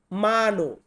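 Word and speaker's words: mano: মানো, ওই দেখুন ময়াকারে মা, দন্তের নকারে নো, মানো।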